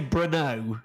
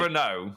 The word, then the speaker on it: Brno: I would say Brno, generally. Brno.